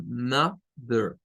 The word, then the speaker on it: mother: miren, aparece así como mother, mother. Pero vean que no es una E, es un schwa.